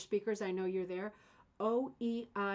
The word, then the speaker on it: Oeillet: Oeillet. Uh, it's like oil. To me, it's oilets, maybe.